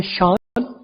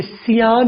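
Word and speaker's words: Sean: एक नाम है शान। सी ई एन राइट तो इसे सियान नहीं पढ़ा जाता। इसे शान पढ़ा जाता है।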